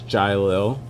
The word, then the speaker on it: Jiquelil: It's Jiquelil, but the spelling of it is Jiquuill. ILL. Yeah. Jiquelil? No, it's Jiquelil. The QUE is silent. So it's like Jiquelil.